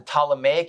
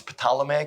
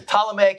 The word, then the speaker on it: Ptolemaic: But the two big empires that are going to concern us are going to be the Ptolemaic Empire, or the P is silent, otherwise it's Ptolemaic Empire. The Ptolemaic Empire and the Seleucid Empire.